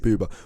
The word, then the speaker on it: Boobah: of how we treat BBA we call each other BBA we greet each other with BBA BBA BBA BBA RH with chuba that does rhyme with chuba um yeah we we